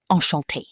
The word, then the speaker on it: enchanté: If a woman says it, she adds an extra E at the end when writing. Enchanté. But it sounds exactly the same out loud, right?